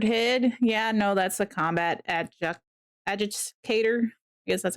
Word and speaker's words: combat adjudicator: Yeah, no, that's the combat adjudicator. Yes, that's how you pronounce it.